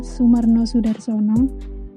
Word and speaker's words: Soemarno Soedarsono: Kalau sekarang dalam KBB itu kan OE itu berarti U ya, jadi bacanya Sumarno Sudarsono.